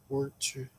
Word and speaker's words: Worcester: I can pronounce it perfectly, but I don't call it Shire unless I am asking a store employee where to find it. I normally just call it Worcester sauce. Worcester.